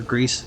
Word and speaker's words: Gris: It's spelled Gris, Gris. Or Greece, sorry. Because it's Spanish.